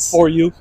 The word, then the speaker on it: 4YU: here um AKA 4 Yu that's how you pronounce it right for you you say for you as well how you